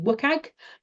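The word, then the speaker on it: WCAG: content accessibility guidelines or as we tend to pronounce it in the UK wag and um they're like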